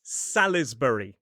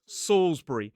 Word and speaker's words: Salisbury: And this one looks like Salisbury, but the pronunciation in a modern British RP accent is Ssbury. That suffix B U R Y. You could pronounce it as Bur with two syllables or just brie like the cheese.